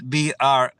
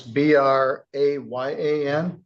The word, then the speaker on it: Brayan: Well, they spelled my name different, like they say my name was Brian. But it's Brayyan.